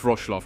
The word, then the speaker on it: Wrocław: It's pronounced Wrocław.